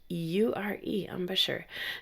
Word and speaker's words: embouchure: Well, let's just move right on, because this leads us to talk about our embouchure, which is a really fancy word, right? Embouchure, spelled with an E, M-B-O-U-C-H-E-U-R-E, embouchure.